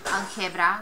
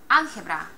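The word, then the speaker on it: álgebra: it ends in a the emphasis should fall on the next to the last syllable so it should be on the GE part but we don't say algebra we say algebra it's not algebra it's algebra algebra algebra do you hear the difference algebra algebra breaks the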